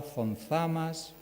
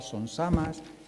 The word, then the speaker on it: Zonzamas: los acabo de pronunciar, con Z, llegamos a pensar que esa es su verdadera naturaleza, pero no es así. Debajo de esa falsa grafía existe eso que los lingüistas llamamos un fenómeno de ultracorrección, consistente en este caso en creer que la pronunciación canaria Yaiza, Guatiza, Órzola, Sonsamas no es sino efecto del seseo dialectal canario.